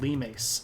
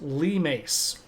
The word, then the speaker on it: limes: something that are called Lem now I know this looks like limes but it is pronounced Lem uh and hadrien understands that